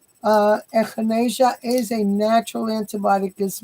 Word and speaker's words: echinacea: not a drug and it's called echinacea I'm pronouncing it correctly echinacea echinacea is a purple flower and it is